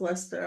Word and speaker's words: Leicester: remember I couldn't I didn't know how to pronounce Lester I was just like what is that spell